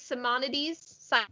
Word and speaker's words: Simonides: Simonides? Simonides.